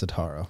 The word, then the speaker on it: Setaro: Yeah, people say Setaro a lot. I got that growing up. It's Setaro. I want to roll the R for some reason.